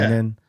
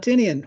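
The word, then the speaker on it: Tynion: That the you said Tynan, not Tinian.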